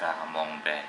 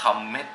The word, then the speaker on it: Camembert: นี่ ซอง กอง แบ ผม เพิ่ง รู้ ว่า คำ นี้ อ่าน ว่า กามอง แบ ตอน แรก อ่าน ว่า อะไร ตอน แรก อ่าน ว่า คำ คำ เมด คำ เมด เด คมด เบด อ นี้ ก็ ชื่อ มัน เป็น ภาษา ยุโรป เป็น ภาษา ฝรั่งเศส นะ ครับ ส การ สะกด